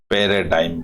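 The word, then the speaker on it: paradigm: imperative to have a पैराडाइम बोलते हैं इसको जी साइलेंट होता है इसमें जी हमेशा साइलेंट रहता है इसको पैराडाइम बोलते हैं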